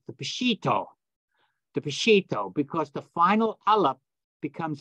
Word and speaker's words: Peshitta: But it's Peshitta, which means simple, direct, pure, original. That's what that means in the Aramaic. So that's how you pronounce it, Peshitta.